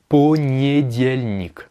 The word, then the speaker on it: понедельник: Alors, petite particularité de prononciation, vous voyez que c'est écrit понедельник, en le disant lentement. Mais pourtant, moi je dis понедельник. Alors pourquoi? Bon, d'abord, il faut savoir que l'accentuation, l'accent tonique, il est sur le diel.